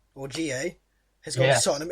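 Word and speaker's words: N'Jie: Clinton G, or GA, has gone to Tottenham. It's spelled NG, but apparently the N is silent. So it's Clinton GA.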